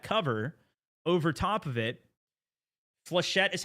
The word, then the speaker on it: flechette: Flechette is how you say it?